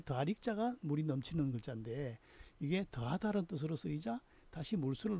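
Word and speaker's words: 益: 마찬가지로 중국 발음은 기역 받침이 없어서 이로 발음됐죠.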